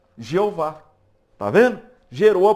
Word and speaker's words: Jeová: Esse enxerto gerou a pronúncia Jeová.